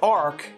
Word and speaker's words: ARQ: So if you missed it because it's gotten since, you know, buried under all the ones they've been releasing, look for ARC, and that's spelled A-R-Q.